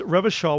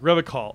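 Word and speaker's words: Revachol: He pronounces Revachal with a hard K, like Revacall, unlike other people, except me when I didn't know any better.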